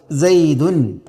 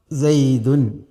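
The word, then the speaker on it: زيدٌ: ഉച്ചാരണത്തിൽ ലാഹത്തൻ അത് എഴുത്തായിട്ടല്ല എഴുത്തിൽ ഈസുക്കൂനായ നൂൻ തെളിഞ്ഞു വരില്ല പക്ഷേ ഉച്ചാരണത്തിൽ വരും അതിന ഉദാഹരണം നമ്മൾ പറഞ്ഞത് സൈദുൻ സൈദുൻ ഇവിടെ സൈദുൻ എന്നതിൽ നമ്മൾ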